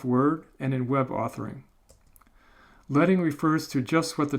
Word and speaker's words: leading: I'm going to teach you now about this term which is pronounced leading.